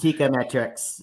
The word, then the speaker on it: Teikametrics: It could maybe sound like it's spelled a little differently, but everybody thinks it's Teikametrics, and that's completely fine. But for those who do want to know, Teika means market price in Japanese, and metrics.